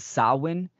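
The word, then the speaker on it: Samhain: understand is the is the Celtic Festival of saan um s h a i n pronounced sawin um this is a a Gaelic tradition right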